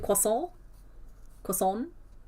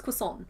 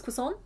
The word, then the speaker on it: croissant: In our hearts, we're all pronouncing it. Quason. That's fine. We know. We know that it's croissant. We know it's croissant.